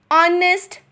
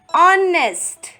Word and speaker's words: honest: Well, the reason is the word is starting with a consonant, H, but H is silent. Which sound is coming? Hour, hour, honest, honest.